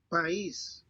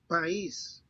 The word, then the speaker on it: país: Since these words have a written accent over the letter I, the diphthong is broken and the two vowels are pronounced separately. país, All right.